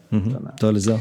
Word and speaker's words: Dolezal: Dolezal, yeah.